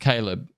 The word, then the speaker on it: Caleb: It's pronounced Caleb.